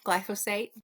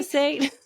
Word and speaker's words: glyphosate: you're gonna have less gly glyphosate I think that's how you pronounce it correctly glyphosate um you're going to